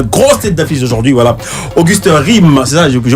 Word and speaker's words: Auguste Rim: Auguste Rime, c'est ça, je prononce bien. Tout à fait. C'est pas Rime, c'est Rime. Rime. R-I-N.